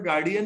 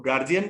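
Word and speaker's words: guardian: अमेरिकन के तर्क ये है कि यहां तक अगर गार्ड था तो यहाँ पर गार्डियन ही होना चाहिए था। अब ब्रिटिश परंपरावादी हैं, वो गार्जियन बोलते हैं, डॉट यहाँ पर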